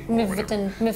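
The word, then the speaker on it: Mývatn: Mivatn. Mivatn? Mivatn. M-Y-V-A-T-N. And there's an accent on the A. Mivatn.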